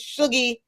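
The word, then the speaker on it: Shuggie: His name's Sugi Otis. That's first of all, right? Let's just exactly and exactly how it sounds is how it's spelled. S H U G G I E.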